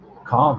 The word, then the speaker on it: calm: bomb I was like Wow calm rhymes with bomb and it's kind of